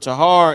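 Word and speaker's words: טהר: Let me put how you pronounce it real fast before I write anything else. Tar. Right. This word tahar is used as pure. Pure or cleansed or purified.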